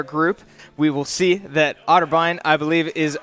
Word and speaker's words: Otterbein: I believe versus otter otterbine that's how you pronounce it yes yeah the academy